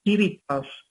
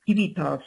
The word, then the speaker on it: civitas: Tenéis que saber que civilización deriva de cives, quiere decir ciudadano en latín, y de civitas, estoy diciendo tal como se escribe, o civitas, como lo pronuncian algunos latinistas, o civitas, la C latina, en esa doble pronunciación dependiendo